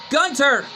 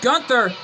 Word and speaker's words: Gunther: as right now though Gunter the ring announcer said Gunther but it's actually pronounced Gunter but right now though